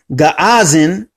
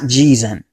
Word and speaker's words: Jazan: Recent archaeological discoveries in Yemen has confirmed, and particularly in inscriptions of Al-Waqir, that the name Gaazan is the correct pronunciation and not Jizan.